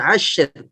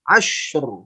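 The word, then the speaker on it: عصر: Kemudian ashr. Bukan asyr. Asyr, tapi ashr. Ashr. Hati-hati. Menggerakkan mulutnya tidak berlebihan ke depan. Ashr.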